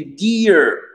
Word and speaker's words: dear: Ici, Badr qui nous dit, mais dear ne se prononce pas comme speak. Non, exactement. Parce que qu'est-ce qui se passe ici, Badr? C'est que on a un long i, mais on a un r, d'accord? Et le r, ça va donner une sorte de ie.